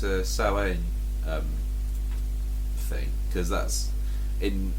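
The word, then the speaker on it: Samhain: Cult of thorn and they come around on sa which is the pronunciation of Sam which becomes Halloween somehow um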